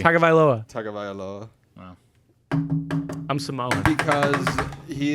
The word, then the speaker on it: Tagovailoa: There's no way to pronounce it correctly. Tagovailoa.